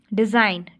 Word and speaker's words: design: डिज़ाइन, DESIGN, डिज़ाइन। अब डिज़ाइन नहीं बोलते, जी वाली साउंड हम नहीं निकालते, जी को हम साइलेंट कर लेते हैं, हम बोलते हैं डिज़ाइन, ठीक है, डिज़ाइन।